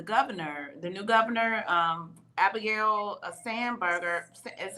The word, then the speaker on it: Spanberger: And did you all also hear in Virginia that the governor, the new governor, Abigail Spanberger, is how you say her name, signed Yes. Spanberger.